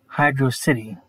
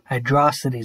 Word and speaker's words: HydroCity: kid i pronounced it hydrocity zone which is not how you pronounce it it's hydro and then city two words instead of just one i guess translating it